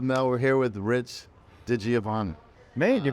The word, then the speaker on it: DiGiovanna: it real with Mel we're here with Rich digiovanna maid you pronounced that right that's pretty impressive we're at